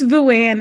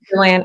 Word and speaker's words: Nguyen: Am I pronouncing it correctly? It's Nguyen. It's okay. Nguyen.